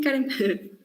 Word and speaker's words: Karem: ¿Así se pronuncia tu nombre, sí? Sí, Karen.